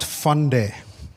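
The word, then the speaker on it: फंडे: It's pronounced funde.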